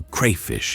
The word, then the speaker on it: crayfish: Over time, crevice turned into crayfish in some places and crawfish in others. Both evolved naturally. Both are correct.